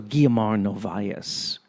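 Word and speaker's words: Guiomar Novaes: Also, Guillermo Novaes is a very intimate Mazurka player in that sense. See, I pronounced her name correctly because I used to speak Portuguese, even though I completely forgot how to speak Portuguese.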